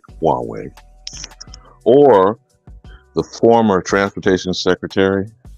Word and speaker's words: Huawei: Huawei or Huawei, however you want to pronounce this, Huawei.